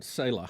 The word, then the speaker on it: Saleh: How you say his name? Robert Saleh? It's Saleh. Saleh. And there's a lot of people wondering, even though they weren't doing great, they weren't.